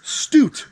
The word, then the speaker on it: Stute: a gentleman named Paul Stute rhymes with flute that's what he says